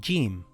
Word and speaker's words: Jeem: This letter is called Jeem. It is a light letter. In English, it is like the letter J in the word jam or the word jug.